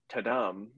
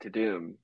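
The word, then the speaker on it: Tudum: the uh yeah it's funny because I wouldn't pronounced it tadam but everyone pronounces it to Doom like so I don't know 927 gossip website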